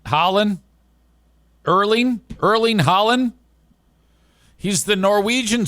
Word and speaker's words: Erling: Elen Holland. Erling.